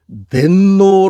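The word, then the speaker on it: 天皇: 그 이유 는 만약 텐노가 진정 으로 " 천제 의 황제 " 라면 " 텐 고 " 라고 발음 해야 하지만 , 실제로 는 " 텐노 " 라고 발음 했기 때문 에 " 텐노 "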